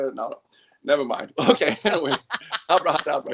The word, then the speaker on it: Abrahadabra: Around 2010, you recorded, I hope I pronounce this correct, Abrahadabra, correct? Yeah. With Dimmu Borgir, correct? Big band, black metal band. Everybody knows this band. Abra had a bra.